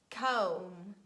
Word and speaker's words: comb: the under words and it is preceded by letter m so letter m stands before that and we read comb thumb num lim lam